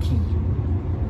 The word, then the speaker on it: Quay: there are strange qu a why but they pronounce it key oh but they're Australian so somewhere in translation